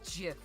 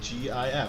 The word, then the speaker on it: GIF: You're the one saying it's Jif. Jif is peanut butter. Yeah, and it's also how you pronounce GIF.